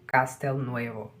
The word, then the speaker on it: Castelnuovo: Como pronuncia isso? Castelnuovo.